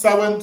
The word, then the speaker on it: Samhain: the year including Sam ha so it's about Sam ha but it's pronounced sin so that word is sin sa yeah the